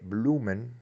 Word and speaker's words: bloemen: La primera sílaba de bloemen termina en una vocal doble, O-E, es U, bloemen.